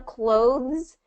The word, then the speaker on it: clothes: So the trick with this one, clothes, is it's a voiced TH sound, and then it has the S at the end.